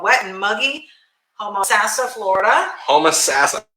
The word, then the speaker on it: Homosassa: Homosassa. Did I say it right? You still said Homosassal. I said Homosassa. Homosassa. What was that? No, you still are like enunciating. Homosassa. Homosassa. Whatever. You're going Sassa.